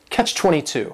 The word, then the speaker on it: Catch-22: The word catch is just one syllable, and then 22 is three syllables, and the stress is on that final syllable. Catch 22.